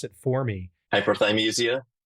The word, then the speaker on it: hyperthymesia: Hyperthymesia. I wrote down the word thigh, like chicken thigh. I was thinking that was how it was.